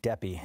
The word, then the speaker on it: Deppe: What is the right pronunciation? Deppe is the key way to go. Deppe.